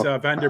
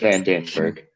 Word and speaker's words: Van den Berg: I have it wrong. I have Van der, and I think it's Van den Berg.